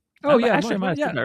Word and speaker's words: Montmartre: And we went to I'm not going to pronounce this right. Montmartre, I think. Oh, yeah, Montmartre.